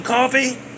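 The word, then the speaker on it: Coffey: He did that to them little kids and then John Coffee like a drink but not spelled the same.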